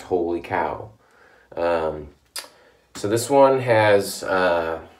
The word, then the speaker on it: Wholly Kaw: look it up and it is pronounced holy cow so this one has